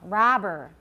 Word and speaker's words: robber: Make sure the ah is long. Robber. It's not rubber.